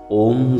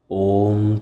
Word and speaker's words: ওম: আর এই ওয়ের উচ্চারণ পেট থেকে, অয়ের উচ্চারণ গলা থেকে, আর ময়ের উচ্চারণ মাথা থেকে হবে।